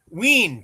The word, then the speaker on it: Ween: Ween to rhyme with Yeah, I figured Dean.